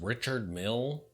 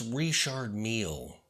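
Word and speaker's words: Richard Mille: Richard meal first off be sure to pronounce it correctly because Richard Mill is so pedestrian so remember it's Richard meal you beige loser if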